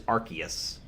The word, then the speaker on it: Arceus: eos or rcs um according to a voiced uh pokedex where they say the name of the pokemon it is arceus like noah's ark um mainly because i'm